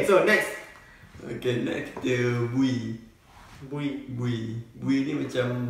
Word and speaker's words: bui: Okay, next kita bui. Bui. Bui. Bui ni macam bagi. Oh, bagi. Ha. Maksud, bagi.